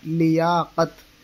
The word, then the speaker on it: لیاقت: اعراب کیا آئے گا، تو اس کو لیاقت پڑھ دیا جاتا ہے، لیکن اصل تلفظ ہے اس کا لیاقت، لام کے زیر کے ساتھ۔ اور اس زبان کی